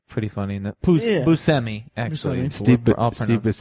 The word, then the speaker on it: Buscemi: Buscemi, actually. Buscemi. Steve I'll Steve pronounce- Buscemi was I- also in Hotel Transylvania.